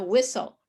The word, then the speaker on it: whistle: whistle like you know whistle whistle we don't say the t at all so it's crazy so